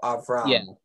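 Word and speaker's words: אַבְרָם: No, if it's a short vowel, the shwa is silent. So Avram. Yeah, I made it too hard, hit it too hard.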